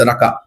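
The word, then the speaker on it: Raka: நான் கரெக்டா ப்ரொனவுன்ஸ் பண்றேன்னு நினைக்கிறேன், ராக்கா. ஓகேவா? எஸ், ராக்கா.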